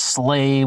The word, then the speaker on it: sla: It's all like the word S-L-A would have been used, and that's pronounced slay, which would have been an old Norse word meaning to kill a friend.